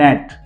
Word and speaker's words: gnat: Then नेट, GNAT, बहुत interesting spelling है, रट्टा लगा लीजिए इसका, नेट, GNAT, जी के बाद एन है, जी का प्रोनाउंसिएशन नहीं किया है, नेट।